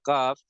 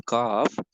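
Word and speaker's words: ك: So this one, the next word is the calf, got the same makharij as the cough. So this one will has to pronounce a bit ahead from the previous word. So take your tongue here and start saying with the calf in a thin manner. In this word should be thin.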